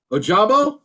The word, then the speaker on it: Ojabo: block aiden hutchinson or joe bull might pronounce that correctly ojabo ojabo sorry he was jobbing your